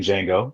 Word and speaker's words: Django: The T is silent, like the D in Django, for real. Yes, sir. The D and Django is silent.